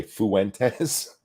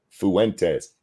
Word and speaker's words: Fuentes: just have to say I hate how British people say the word Fuentes they say Fuentes there's an extra syllable between the U and the e Fuentes somebody help him because